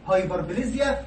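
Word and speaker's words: hyperplasia: سؤال انيوميريت مهم: هايبرتروفي، هايبربليزيا، واتروفي، وميتا بليزيا. خدوا بالكم ساعات بتتنطق بليزيا وساعات بتتنطق بليجيا، يعني ده او ده صح، النطقين صح، بليزيا او بليجيا صح.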